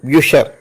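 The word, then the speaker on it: Bücher: യു സി എച്ച് ഇ ആർ ഉണ്ട് ബുക്കുകൾ അതിന് ബ്യൂഷർ എന്നാണ് ബ്യൂഷർ ഇതിന് ഒരു നിയമം പറയുന്നത് ആ ഉവയോട് ചേർന്നാണ് സി എച്ച് വരുന്നതെങ്കിൽ അവിടെ ക ഉച്ചാരണമാണ് അതേസമയം ഇ എ ഓ ഉമ്മോട്ട് യു ഉമ്മിലോട്ട്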